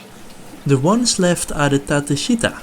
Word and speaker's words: Tateshita: The ones left are the Tateshita, or better said, how it is pronounced in Japan, the Tateshita.